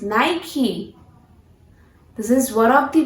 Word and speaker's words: Nike: So our next brand is, which is very well recognized brand, Nike. No friends, this is not Nike, this is Nike. The pronunciation of this brand is Nike.